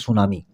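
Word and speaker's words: tsunami: है उसे बोलते हैं सुनामी। वैसे लिखा हुआ तो है टी एस यू एन ए एम आई लेकिन इसमें टी साइलेंट होता है। सुनामी होती है ना।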